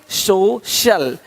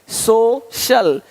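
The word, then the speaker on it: social: सकता है अब देखो यदि सी के आगे आई ए हो तो सी का उच्चारण श होता है क्या होता है श होता है क्या लिखा हमने सोशल सोशल सोशल तो यहां पे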